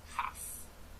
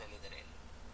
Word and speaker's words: half: We don't pronounce the letter L in half. Not halves. We say half.